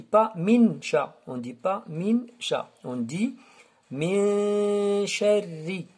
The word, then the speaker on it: شَرِّ: Alors, ra ici, c'est pas comme l'aura de birabbi. Ici, elle est un peu fouilletée. Sharri. On ne dit pas min sharri. Non, on dit min sharri. Alors, l'aura ici, elle est fouilletée. Muraqqaqa, en arabe.